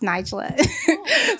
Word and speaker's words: Nijla: your film definitely first my name is pronounced Nigel a but it's okay I